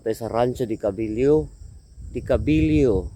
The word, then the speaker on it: de Cabileo: Decabillyo kasi nalilito talaga ako eh. Kasi sasabihin kong deabillo e ang basa nila dekabiliw ang pronunciation nila.